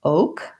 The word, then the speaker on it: oak: You might write it this way if it helps you to think about O, like I owe you money, and then we add the K, oak. Yeah, okay. Rhymes with some other words with the same spelling, like cloak, or poke has a different spelling, but it also has an O and an E, 2 vowels for our O.